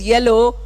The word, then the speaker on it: yellow: Don't we have ya sound in Telugu? Ya is there, last line, first alphabet. Why are we missing out? Because our teachers told us LO, we are saying LO again.